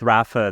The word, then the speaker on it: Rapha: really easy to pronounce although in the US you still call it Rafa with far too many A's but anyway it's fairly